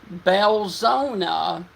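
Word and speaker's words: Belzoni: It is pronounced Belzona and Angola.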